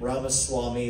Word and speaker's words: Ramaswamy: It's Vivek like cake, and Ramaswamy like Ramaswamy.